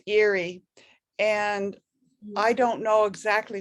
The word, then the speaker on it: Erie: sleep and second avenue that weird e-r-i-e it's pronounced eerie and i don't know